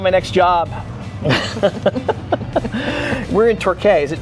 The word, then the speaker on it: Torquay: We're in Torquay. Is it Torquay? You pronounce Torquay. it? Torquay.